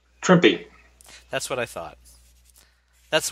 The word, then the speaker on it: Trimpe: on Herb's last name trippy that's what I thought that's the way I've always said it going back 40 years but you know well as he said it rhymes with shrimpy maybe I'll ask you